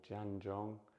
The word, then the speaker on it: Zhan Zhuang: So this practice is known as standing Qigong or Zhan Zhuang, and that's spelt with a Z.